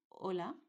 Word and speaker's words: hola: This letter in Spanish is totally silent. At any moment that you see it in any word like in hola, you omit it.